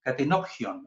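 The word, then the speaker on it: κατενώπιον: Dice Katenopion, ahí se pronuncia como una PJ, ¿ya? Es ahí, pion, no se usa así en el griego moderno, sino que es como una PJ, gion.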